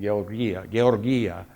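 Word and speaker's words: γεωργία: This is the Greek word for farming, georgia. So it's a soft G.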